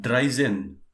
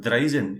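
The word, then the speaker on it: drei zehn: told you yesterday also this is not dry zen make sure it is not dry zone it is dry zen right it is pronounced two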